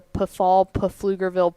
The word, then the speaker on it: Pflugerville: we joke about how it's the field right because it's flugerville p-f-l-u-g-e-r and they they really lean in in that town into the silent p i i told you